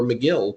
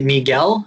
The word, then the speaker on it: Megill: And then we saw a young Tylor Megill pitch last night in his major league debut. I was waiting for the pronunciation of that.